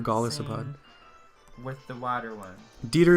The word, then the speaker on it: Golisopod: do you say it I say golisopod or gospod with the water one